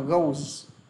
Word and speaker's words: goes: Và các bạn đọc thì thêm cho anh chữ z vào. Đọc là goes.